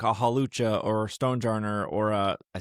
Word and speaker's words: Hawlucha: now they know they can get like a Hawlucha or Stonejarner or I said it right, or a Kangaskhan, right?